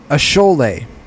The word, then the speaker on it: Asshole: Ashole. Ashole is another name. Named Shiny. Ashole is spelled ASSHOLE.